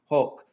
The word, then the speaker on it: hoc: the direct object, and then hoc, notice a long O right here, hoc, by, from, with, etc., this or this man, all right?